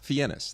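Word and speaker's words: Fiennes: fenus well well wait so his real name is fenus fenus that's how you pronounce it okay it's fenus and I was I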